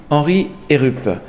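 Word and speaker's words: Heerup: on a devant nous une autre oeuvre signée henry et groupe est ce que je prononce bien oui henry et rupp qui est en fait est bien un des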